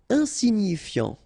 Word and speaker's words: insignifiant: Insignifiant. Okay, final T not pronounced, so you've got this I-A-N, ian, so F before, fiant. Insigni, okay, remember, G-N-I, ni, insignifiant, insignifiant. Mineur, E-U-R, heure, mineur, mineur.